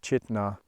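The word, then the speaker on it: Chitina: So Chitna, as I found out the pronunciation from the nice ranger we met, was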